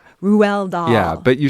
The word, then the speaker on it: Roald: I think people I know certainly say Roald Dahl, right? But the correct pronunciation is Roald. Roald Dahl.